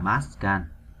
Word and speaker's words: Pascal: kí hiệu là chữ b là cái này đọc là Pascal là bằng 1 Newton trên mét vuông rồi